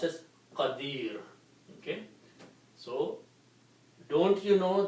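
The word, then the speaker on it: قدير: or the sound of noon the word is pronounced as Kadir Okay so don't you know that Allah has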